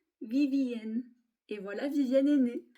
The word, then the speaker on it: Vivienne: Et lorsque l'on prononce en anglais le VVN, on obtient Vivienne.